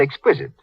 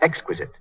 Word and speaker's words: exquisite: Mary Jane's mother said exquisite. She should have said exquisite.